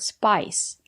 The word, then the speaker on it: spice: comes from the word spice we have the letter I and the silent e we pronounce the letter i as the long I like in hike and like spice it's countable so you